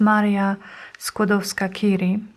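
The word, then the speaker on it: Maria Skłodowska-Curie: her name in english this is maria skodovskakiri this is how we pronounce her name and this says a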